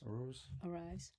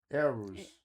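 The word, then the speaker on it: Araúz: Is it Arise? Arise. No. Aruz. Aruz. I think it was like Arise. No. Aruz. I know. Aruz.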